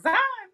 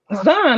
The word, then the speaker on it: Zahn: Zion. Zahn, like John with a Z.